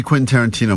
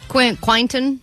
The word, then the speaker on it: Quentin Tarantino: All week, as she's been talking about this prize we have, she's been saying, Quinton. Quintanana. So we're like, what? You talking about Quentin Tarantino still?